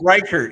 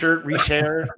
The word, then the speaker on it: Reichert: It's Riker, you know, no big deal. Right. Reair like, you know, Rert.